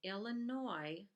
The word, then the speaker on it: Illinois: 1818, Illinois, the S is silent, Illinois becomes a state.